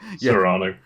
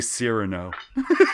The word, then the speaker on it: Serrano: How did you pronounce it again? Serrano? Yep, Serrano. Serrano, there we go. Because you can say it. I'm a foolish American and I say Cyrano.